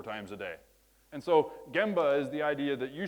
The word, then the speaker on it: gemba: gemba my Japanese colleagues corrected me that apparently gemba is the appropriate way or the correct way to pronounce this and it basically as I understand